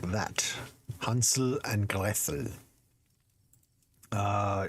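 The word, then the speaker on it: Gretel: Hansel and Greel. Uh, in English it tends to go for Gretle as opposed to Grel.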